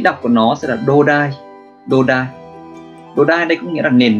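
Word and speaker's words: 土台: Thì cách đọc của nó sẽ là đô đai.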